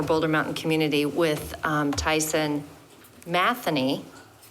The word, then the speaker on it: Matheny: I attended the board meeting for Boulder Mountain Community with Tyson Matheny. That's the Irish pronunciation. Most know him as Matheny, but he said he goes by either one, but it's Irish and it's Matheny.